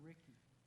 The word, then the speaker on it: Ricci: So we're all, I mean, So when the motion's made, do I pronounce that Ricci or Ricky? Ricky, Okay.